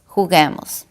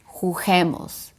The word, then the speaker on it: juguemos: If you only write that, without the U, it will sound jugemos. And that is not a word in Spanish.